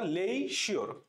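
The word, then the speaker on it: leisure: আরই লিখ না লিখিশির লিখিশির মানে এইভাবে উচ্চারণ করবা লেশির আমাদের আর জীবনে ভুল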